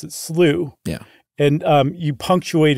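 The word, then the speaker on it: slough: America or how it's spelled in America you pronounce it slooh yeah and um you punctuate it with an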